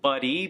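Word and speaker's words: Buddi: but I I know it's supposed to be pronounced buddy but but I why'd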